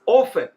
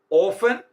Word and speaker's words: often: I go out with my friends often. Here in this sentence, we are discussing the use of often. There are two pronunciations for this word. Often and often. Both are possible.